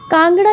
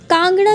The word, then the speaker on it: कांगड़ा: के लिए मशहूर था कांगड़ा यह शब्द ही कान गड़ा ऐसे उच्चारण से तैयार हुआ है डॉक्टर एस सी